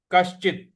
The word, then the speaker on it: कश्चित्: श्रुत्वापेनौ, श्रुत्वाप्येनौ वेद न चैव कश्चित्, वेद न चैव कश्चित्, कश्चित्, क के बाद जो श है उस पर हमको आघात देना है, और त